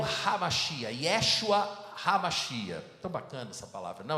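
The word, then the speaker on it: המשיח: Cristo, ele era o Hamashia, ou como eu disse aqui brincando de manhã, a pronúncia é Hamashiach, com um R no final, né?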